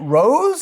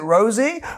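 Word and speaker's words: Roze: We have, it's spelled R-O-Z-E. Is it Rose? Is it Rosie? We're about to find out. It's Rose, yeah, call me Rose.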